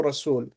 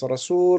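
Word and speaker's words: رسول: Rasul rhymes with fa'ul, and fa'ul follows pattern number one, which is fa'ul.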